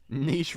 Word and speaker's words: Niche: it up to okay Niche rhymes with be clearly StreetWise Street wise